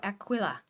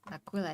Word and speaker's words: Aquila: Yeah, that's the Imperial Aquilla. Aquila is how you say it.